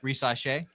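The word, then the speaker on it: Risacher: How do you say it? Rissacher. Yeah, a little French in there.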